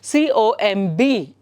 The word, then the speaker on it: comb: So wherever there is a B after an M sound, anovaga, it's pronounced as comb. It's comb, not comb or comb. No, it's comb.